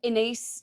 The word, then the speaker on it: Ines: Inace. I always say in rhymes with space or with face.